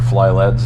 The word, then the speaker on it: FLYLEDS: they gave us a fly LEDs keychain or fly leads as they pronounce it massive heat sink